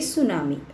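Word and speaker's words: tsunami: बच्चों सबसे पहले तो ये समझिए, ये टी लगा हुआ है ना जो इसमें सुनामी में, ये साइलेंट है तो आप इसको प्रोनाउंस करेंगे सुनामी।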